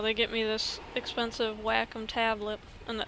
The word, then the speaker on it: Wacom: get me this expensive Wacom tablet and that is literally how you pronounce it w-8 uh c-o-m and uh they got